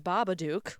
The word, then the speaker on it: Babadook: It's usually Mothman, the Babadook, which I don't get. I mean, it rhymes with shook, Babadook.